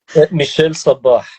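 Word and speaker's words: Michel Sabbah: Can you pronounce that for me? Michel Sabah.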